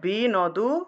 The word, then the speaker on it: বিন্দু: তার শেখাটা হবে না তাহলে দেখো এখানে বি নদু যেহেতু এখানে অসন্ত নেই প্রত্যেকটা শব্দ অক্ষরকে আমরা আলাদা আলাদা উচ্চারণ করব তাহলে বি নদু আলদা আলাদা উচ্চারণ করলাম আর এখানে যেহেতু অসন্ত আছে তাহলে এই ন টা আগের অংশের সাথে উচ্চারণ হবে বিন্দু বিন্দু ঠিক আছে বুঝতে পেরেছ